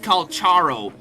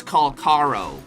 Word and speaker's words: Calcharo: It's not Calcharo, it's Calcaro. I'm like, I am not calling him Calcaro.